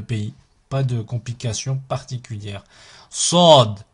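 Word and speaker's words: ص: Sod, Sod, Sod. Là, on est sur un son emphatique qui est grave. So, So. Et pas ça. Sod, Sod. Ici, Dod, Dod.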